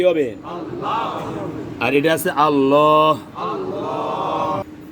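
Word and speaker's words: الله: লামে আল্লাহর ডাইনে জবর লামে আল্লাহ মোটা লামে লামে আল্লাহর ডাইনে এই যে আকারটা দিলাম আকার দিলে আল্লাহু হবে কি হবে আল্লাহ আর এটা আছে আল্লাহ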